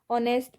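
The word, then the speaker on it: honest: है जो कि ऑनेस्ट ऑनेस्ट में एच साइलेंट होता है एंड ओ से हम स्टार्ट कर प्रोनाउंस करते हैं इस वर्ड को और जो कि एक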